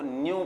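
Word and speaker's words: ν: व बनाते हुए थोड़ा टेढ़ा कर देते इसको न्यू प्रोनाउंस करते हैं एय न्यू ओके और जो स्पीड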